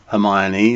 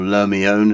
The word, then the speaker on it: L'Hermione: French three-masted sailing frigate amaya knee or lomi own as the French would pronounce her launched in 2014 she's